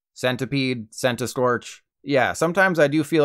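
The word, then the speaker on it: Centiskorch: it's a centipede and you don't say centipede so the official pronunciation is sent to Storch centipede sent a Scorch yeah sometimes I do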